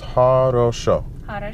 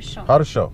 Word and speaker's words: Хорошо: So that's three syllables. Хорошо. Хорошо.